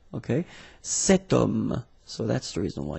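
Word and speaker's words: cet homme: this ash letter remember Ash is not pronounced okay so you've got the sound of O at the beginning of this word okay setum so that's the reason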